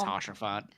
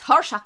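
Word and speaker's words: Haurchefant: I always say it's Hashafont. It's Horshaf. I put the R in the wrong area.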